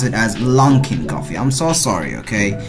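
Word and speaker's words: Luckin: is the Lincoln coffee hey I'm not also pronounce this word as linking coffee I'm supposed to pronounce it as long Kim coffee I'm so sorry okay the funny part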